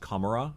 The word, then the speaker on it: Commorragh: Maybe sometimes it's Commorragh. I think it's just Commorrah. I think you ignore the G.